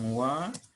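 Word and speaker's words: は: Atau di sini kata bantu dibacanya wa ya. Hurufnya huruf H.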